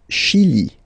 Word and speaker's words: Chili: Le Chili. Le Chili. Okay, remember, C-H, sh.